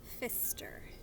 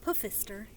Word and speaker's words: Pfister: This one is called The Rainbow Fish by Marcus Pfister. The P doesn't make any sound. It's not Pfister, it's just Pfister. The P is silent.